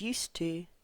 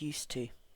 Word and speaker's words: used to: This doesn't really change the sound of these two forms because this d and this t are connected up when we're talking. So this is used to, this is used to. So no change in pronunciation.